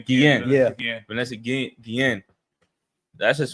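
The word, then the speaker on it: Guillén: Guillen.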